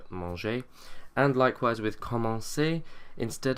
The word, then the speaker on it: mangeai: we get je mangeais, which is really strange because to start with a soft j sound and then to go to a hard g sound is a little bit strange. So just as we did in the present tense, we add an e to soften the g, je mangeais.